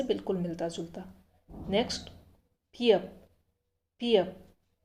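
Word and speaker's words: 비읍: Next पियप।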